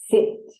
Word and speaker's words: sit: two example words sit now listen to how I pronounce this word sit can you hear the I sound sit now listen to